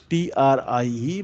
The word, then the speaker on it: trie: Okay, the spelling is TRIE but pronounced as trie, which is a branching based on the last significant bit at the root.